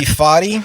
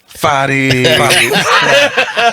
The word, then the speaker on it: Foti: My album, Tom produced, and my name is Tom Foti or Foti, depending on what mood you're in. It is not and never will be Foti. Oh, I don't get a special card. Foti.